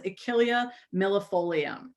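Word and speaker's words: Achillea millefolium: emily asks in the chat would you please pronounce the latin names when you introduce the herbs absolutely this one's achillea millifolium and yes lauren asks do you apply it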